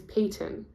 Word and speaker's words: Payton: from there um so my name is Payton I say it like that because people never pronounce it properly so like um the football player pton Manning um or I don't spell